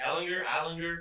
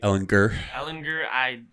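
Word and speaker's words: Ehlinger: Ellinger. It's a hard G. Ellinger.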